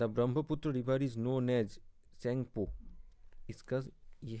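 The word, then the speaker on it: Tsangpo: The Brahmaputra river is known as सेंगपो। इसका यह है सेंगपो। ठीक है ना? टी का आवाज नहीं आता। टी साइलेंट रहता है। सेंगपो बोलते हैं।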